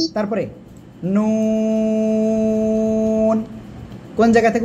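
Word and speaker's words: نون: তারপরে নুন। কোন জায়গা থেকে উচ্চারণ হবে? জিহ্বার আগা, তার বরাবর উপরে তালুর সাথে লাগাবেন, লাগিয়ে 2 ঠোঁট গোল করবেন, গোল করে উচ্চারণ করতে হবে নুন।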